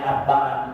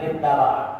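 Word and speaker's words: أتبع: Ya, man atba'a, jadi dirubah, yang bagian pulpen itu bacanya kalimatnya atba'a, bukan man ittaba'a, man atba'a.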